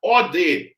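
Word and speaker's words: ᾠδή: palavra eu vou transcrever eu vou pronunciar od od od eu não tô pronunciando o ID eu tô falando o d aí você vai falar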